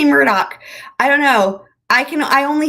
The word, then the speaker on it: Murdaugh: But it is funny because his name is spelled Alex Murdaugh, and of course everyone pronounces it Alex Murdaugh.